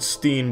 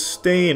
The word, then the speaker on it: stain: They all want to pronounce it Steen, but it's Stain.